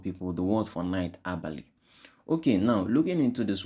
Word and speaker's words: Abali: The word is pronounced Abali, Abali. Okay, you might have variations like Abari. You can have variations like Abani. Okay, but we are going to be using Abali. Okay, Abali.